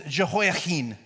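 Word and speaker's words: Jehoiachin: I said, "How would a person who speaks Hebrew say this name?" And it was Jehoahin, which he had a lot more throat to it, which is harder to say, which probably means it's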